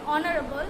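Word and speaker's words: honourable: এখানে আমি যদি বলে দেই কিছু শব্দ যেগুলো এইচের উচ্চারণ এইচের মতো হয় না, তাহলে সেটা হচ্ছে অনেস্ট, আওয়ার, তারপরে হবে অনারেবল।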